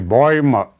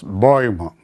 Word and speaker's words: Bäume: Der Baum, die Bäume. That umlaut is pronounced as Bäume, Bäume.